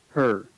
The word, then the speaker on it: her: Him, her. The object pronouns him and her, when said with weak stress, lose the H sound and are pronounced im and Tell him.